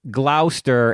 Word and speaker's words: Gloucester: He said that's pronounced Gloucester, as in glouse paint. Gloss paint.